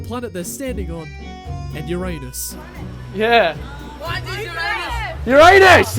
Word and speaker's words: Uranus: Uranus! Yes, mate. It's actually pronounced Uranus. It's actually pronounced Uranus.